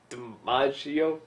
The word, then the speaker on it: DiMaggio: something I am noticing watching more and more of these is that, you know, I used to associate John DiMaggio, is that how you say it?